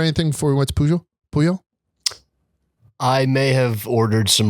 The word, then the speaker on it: Pujol: It's called Pujol. That's how they pronounce it. Pujol. So I would pronounce it Pujol just from Pujols, right? Like from Albert Pujols. But I believe the guy behind the desk said we pronounce it Pujol.